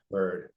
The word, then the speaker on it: Byrd: Bird.